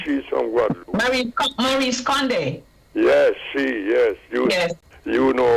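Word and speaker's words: Maryse Condé: Both of them by Marseille Condé. Right. She's from Guadeloupe. Maurice Condé. Yes, Yes. You know how to pronounce it better than me.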